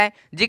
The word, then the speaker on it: hedge: यहाँ पे सेम देखोगे EDGE, यहाँ पे जी दिख रहा है, जी के ठीक पहले डी दिख रहा है, जी